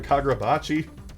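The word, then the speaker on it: Kagurabachi: the week kaga Bachi that's right kagachi I know I pronounced it wrong in the state of shown and jump video I know I did it's kagachi chapter 56 Daybreak so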